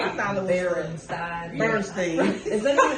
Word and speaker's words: Berenstain: Even if that is how it's spelled, that's not how it was pronounced. At all. It was the Bernstein Bears.